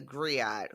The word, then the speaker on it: griot: I was going to say someone who comes to her defense is the griot, whose name is like Mbali, maybe? Mbali, yes. Okay. And that's Griot is how you say that.